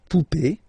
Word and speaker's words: poupée: and then here, okay, remember this final is not pronounced, so you will have this e, remember accent aigu, it's e sound, okay, la poupée, the doll, l'arrivée, the